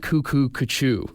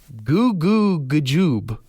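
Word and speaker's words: goo goo g'joob: Apparently, we've all been saying it wrong. It is not cuckoo, kachoo. What is it? Goo goo gajoob.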